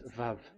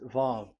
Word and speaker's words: Vav: Vav. So it's V as in Vogue. So it's really V. How to read Vogue? So the word, the shape Vav is really pronounced V, like Vogue.